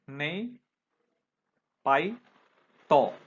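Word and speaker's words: Naypyidaw: देखो उनकी जो कैपिटल है वो क्या है, थोड़ा प्रोनाउंसिएशन इसका मुश्किल है, नई पाई तो, नई पाई तो.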